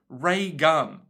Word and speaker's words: Reagan: Like the President, Ronald Reagan. However, when he spelled it out for me, he said pronounced Ray-gun.